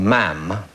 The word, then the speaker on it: ma'am: Princess Royal uh or ma'am rhymes with Spam kissing beforehand I knew